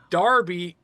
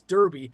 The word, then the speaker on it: Derby: stuff like that and it's Darby even though it's d rby y but it's Derby and we went to